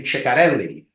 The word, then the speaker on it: Ceccarelli: By the way, it's Donatella, Donatella, and her last name, Ciccarelli. Finally, I pronounced someone's last name correctly, I hope.